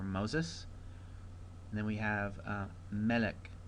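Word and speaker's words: מֶלֶךְ: And then we have Melech. Melech, the accents over the first syllable there.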